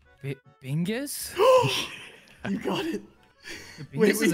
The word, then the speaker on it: Bingus: It rhymes with Ringus. Ringus. Or Wingus. It also rhymes with that. Bingus?